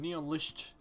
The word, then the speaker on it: Neonlicht: Oh, that's how you pronounce it. Neonlicht.